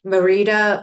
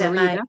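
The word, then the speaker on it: Mérida: Um, I've been looking because I was started looking like you Facebook pages and stuff at I don't even know if I'm pronouncing it right. Merida, Mexico. Oh, It's Marita.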